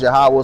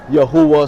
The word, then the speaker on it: Yahawah: So the God of our ancestors, his name is Yahawah. Some people pronounce it Yahuwah. Some people pronounce it Yehovah. Some people pronounce it Yahweh.